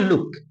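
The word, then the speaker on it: look: Example की बात करते हैं तो यहाँ पे एल डबल ओ और के, इसे पढ़ते हैं लुक।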